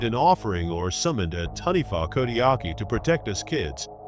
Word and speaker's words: Taniwha: In Maori legend or folklore, there is a creature called the Taniwha, pronounced Taniwha, which guards certain areas in nature or is